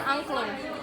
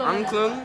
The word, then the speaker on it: angklung: It's an angklung. How do you say? Angklung. Angklung?